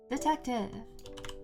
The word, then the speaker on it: Detektiv: Detective. And not the way you think it's spelled. It's like a It's spelled with a a K T I V.